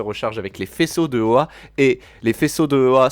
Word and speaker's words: Oa: Enfin, ton costume se recharge avec l'anneau se recharge avec la lanterne se recharge avec les faisceaux de Oa.